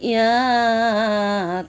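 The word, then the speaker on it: ي: ইয়া জিহ্বার মাঝখান থেকে নরমভাবে আদায় হবে, নইলে হামজা অথবা আইন অক্ষর আদায় হয়ে পড়া হারাম হয়ে যাবে। খারাপ আঁকা চিহ্নের এই জায়গায় সাবধান হও, হামজা অথবা আইন অক্ষর আদায় হয়ে যেতে পারে।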